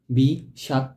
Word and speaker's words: বিষাক্ত: এর উচ্চারণ কি লিখবো বি কোন স হবে মধ্যস স এর পরিবর্তে সবসময় কি তাহলে সাই লিখবো বি শাক ত বি শাক্ক কয়টা অক্ষর তিনটি অক্ষর